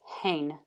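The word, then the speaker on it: הֵן: have a transliteration yep so I have the H for hate and then an E with a marking for so it's a long e it's an a sound and then I have the final noon the n so for me that helps me remember that is hen and then on the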